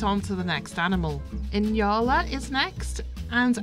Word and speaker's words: Nyala: Yola is next and I definitely know I'm pronouncing that one right because I watched the documentary on inyals not long ago and I was like oh so it's not Nyala I've been saying that for years anyway and yara's got into